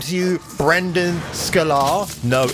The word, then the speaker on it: Sklenar: Sklenar. Yeah. Yeah. It's not hard. Brandon Sklenar.